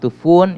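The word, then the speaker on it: طوفان: Okay, so which is pronounced tufun in the Bandari dialect of Persian.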